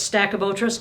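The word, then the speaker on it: Stachybotrys: it's spelled statue motorists I said it incorrectly for two years until someone was polite enough to interrupt me and say Gwen its stack of otras okay stackable tras otra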